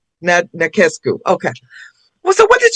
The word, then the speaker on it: Nachescu: And how do you pronounce your last name? Nescu. Nescu.